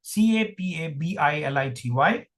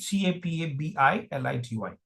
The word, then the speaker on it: capability: So how many syllables? Just just count. 1 2 3 4 fire. Okay. Capability. Now when we have five syllables, you would have noticed one thing. Uh well, it doesn't stop with just one uh stress syllable. So there is another stress syllable here. Secondary stress is on K.